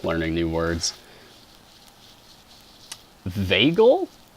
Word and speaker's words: vagal: Vagal? Vagal? How do you pronounce that? Is it a short A or a long A? Vagus nerve? Long A? Cool. So yeah, Vegas and vagal.